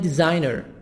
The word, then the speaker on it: designer: Website designer. S as Z.